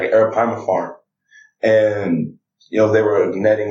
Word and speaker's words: arapaima: I remember I remember watching the show River Monsters, and there was a fish called the arapaima. The what? The arapaima.